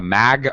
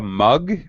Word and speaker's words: mug: And then you also said a mag of rice. I think a mug of rice.